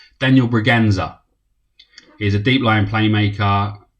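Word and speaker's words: Bragança: Now, I Googled this to see how to pronounce it, and that little weird thing under the C apparently means it was pronounced as a Z. So it's Daniel Braganza.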